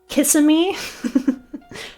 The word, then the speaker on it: Kissimmee: Pronounce this funny Florida city name. Kissimmee.